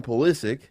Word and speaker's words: Pulisic: After his injury, Christian Pulisic.